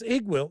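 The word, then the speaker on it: Iggwilv: With the V or without the V? Because I think most people pronounce it Igwil. It's Igwil, and the V is silent.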